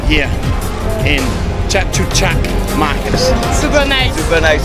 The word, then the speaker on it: Chatuchak: Chatuchak. Yeah, okay, Chatuchak.